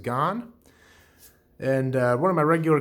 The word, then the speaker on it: GAN: i've got this pinarello i believe it's pronounced gone and one of my